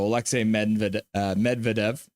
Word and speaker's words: Alexei Medvedev: So Alexei Medvedev, as you can see, they have it written phonetically here. So Alexei Medvedev, playing for the London Knights, as I mentioned.